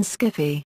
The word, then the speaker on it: skiffy: fiction, and around 1978, Susan Wood and others introduced the pronunciation skiffy.